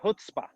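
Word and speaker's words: chutzpah: my grandma who just turned 100 she's got hutzpah that's how you say it how do you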